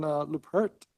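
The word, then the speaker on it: Leuprecht: Christian Lupert. Am I pronouncing it right?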